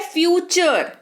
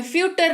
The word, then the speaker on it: future: फिर है फ्यूचर, FUTURE, लेकिन जब बोलते हैं इसको बोलते हैं फ्यूटर, नहीं बोलते हैं इसको फ्यूचर बोलते हैं। तो यहाँ पर टी का उच्चारण च के तौर पर हो रहा है, जिसकी वजह से ये बन रहा है फ्यूचर।